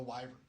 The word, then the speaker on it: wyvern: shit out of a wyvern. Am I saying it right now? What, Wyvern? Wyvern. Yeah. Okay. Yeah.